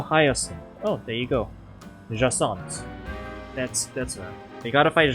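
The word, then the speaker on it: Jacinthe: Jacint.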